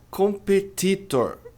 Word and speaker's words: competitor: A pronúncia não é competitor. Sua feia demais. Competitor. A pronúncia correta é competitor. Competitor mais veja, t ladeado por vogais tem dois, tem esse aqui também, mas a tônica é no p.